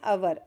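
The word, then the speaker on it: hour: अब अवर है तो यह एच जो है यह एच हमारा साइलेंट है। है ना? तो हम कहां देखेंगे? अवर।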